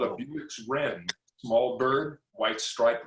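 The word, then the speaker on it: Bewick's: It's a Buick's wren. Wow. What kind of sound does it Not make? spelled the same way, not spelled like Buick, the car, but it's pronounced that way.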